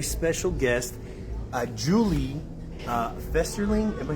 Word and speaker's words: Festerling: have a very special guest uh Julie uh festerling am I saying that right that's right yeah because I've had butcher the name so um I have Julie here